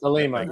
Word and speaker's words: Thelemite: That's the Thelemite. Yeah, it's the whole Aleister Crowley do what thou wilt. Okay, we were mispronouncing it.